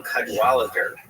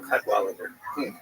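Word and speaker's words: Cadwalladr: So, there's a very good reporter there named Carol Kadwaler. The last syllable is kind of because it's there's no vowel. It ends with Dr. R. Carol Cudwaler and she had written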